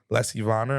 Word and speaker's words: Lessie Vonner: But we are here with a lovely, illustrious guest, Lessie Vonner.